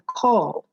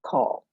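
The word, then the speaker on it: caul: home and um i was born with a call and i don't know if you know what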